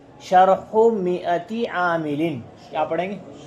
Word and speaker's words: شرح مائة عامل: دھیان سے سن لیں۔ اس کا صحیح اعراب اور صحیح تلفظ ہے شرح مئتی عامل۔ شرح ایک پیش کے ساتھ، مئتی ایک زیر کے ساتھ، عاملین پہ دو زیر۔ شرح مئتی عامل، کیا پڑھیں گے؟